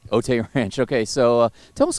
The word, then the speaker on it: Otay Ranch: of 2020 out of OT Ranch High School in California am I pronouncing that correctly uh OT Ranch Otay Ranch okay so uh tell